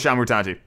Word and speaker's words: Shamutanti: I'm gonna go with Shamutanti. Like Shamu.